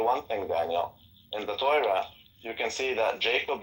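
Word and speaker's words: תורה: The way that you pronounce the word that he's mispronouncing is Torah. Taf, Vav, Reish, Hey.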